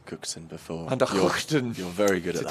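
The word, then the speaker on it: van der Gugten: I've heard you pronounce Cookton before. Van der Hookton.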